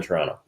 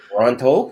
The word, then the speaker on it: Toronto: Because you get one T even though there's two in the word.